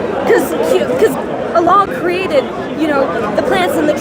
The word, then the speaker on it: Allah: Allah. How do you, how can we explain like these humans sort of like, because Allah created, the plants and the trees, stuff that isn't really explainable by free will.